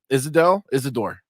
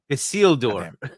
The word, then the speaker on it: Isildur: A whole big drama about our lack of knowledge of Isidore, right? Isidore? Isildur. Isildur. Listen. Okay. I don't got the pronunciation down, but now I know the name.